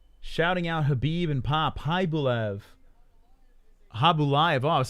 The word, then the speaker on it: Khaybulaev: Khaybulaev. Khaybulaev. Oh, I was saying his name wrong the whole time.